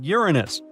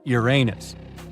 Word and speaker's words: Uranus: to speculate well well we've been Mis calling Uranus all this time actually astronomers say we should be pronouncing it like Uranus not Uranus I can't say a